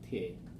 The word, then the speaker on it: subtracted: Because this one is t sound, and we remember that if it's t, we can't put another t except if we add an extra syllable.